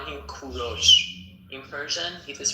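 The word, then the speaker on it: کوروش: English people call him Cyrus but in Persian we call him Kuros. In Persian it is pronounced Kuro but in English you call them call him Cyrus.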